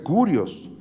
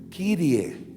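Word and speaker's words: Κύριε: Grecia muchos años y no se dice kurios, se dice Kyrie.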